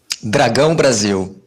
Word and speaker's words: Dragão Brasil: The nasal diphthong is impossible. So would you like to say it properly real quick? Dragão Brasil.